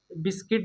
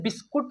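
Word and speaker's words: biscuit: इसे बिस्कुट नहीं पढ़ेंगे दोस्तों, क्योंकि यू साइलेंट है। क्या है? यू साइलेंट है, तो इसे हम लोग क्या पढ़ेंगे? बिस्किट।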